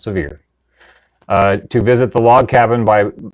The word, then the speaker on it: Sevier: We're going to go through Sevierville, which is in Sevier County, which I pronounce Sevier, but the good folks in Tennessee pronounce Sevier.